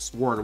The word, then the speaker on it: sword: green sword green sword sword why did i say sword with the w that's like pronouncing though